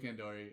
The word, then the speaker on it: Kandori: Shout out to fucking Bull Nakano and Shinobu Kandoru because they fucking sorry, I'm fucking Kandoru. I mean, sorry, we're getting the File Under Fire versus Wheelie Good podcast pronunciation challenge here.